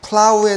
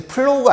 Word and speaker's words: plow: 그래서 자, 일단 첫 번째 단어가 자, plow인데, 이게 이제 플로우가 아니란 말이지.